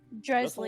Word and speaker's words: Dresley: Dresley. lie? Think like Dresden Files.